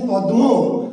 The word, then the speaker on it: পদ্ম: কিন্তু উচ্চারণ করছি কি, যেমন দেখেন প দয়ে ময়ে, এটাই তো আপনি লিখছেন। শিক্ষার্থী বন্ধু ভালো করে লক্ষ্য করেন, আপনি লিখছেন প দয়ে ময়ে, এটা লিখছেন না, কিন্তু আপনি উচ্চারণ কি করছেন পদ্ম, আপনি উচ্চারণ করছেন কিন্তু কি পদ্ম।